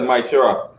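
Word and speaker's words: מעשר: Means tenth in Hebrew and pronounced as Maishera.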